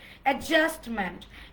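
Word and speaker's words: adjustment: অ্যাডজাস্টমেন্ট, অ্যাডজাস্টমেন্ট। ডিলিটার silent, জের উপর stress.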